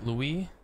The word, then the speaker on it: Louis: It's French Louis, but pronouncing it like Louis is fine.